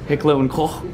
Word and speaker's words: Heckler und Koch: Heckler und Koch, you have to use the accent, or Heckler and Koch in English.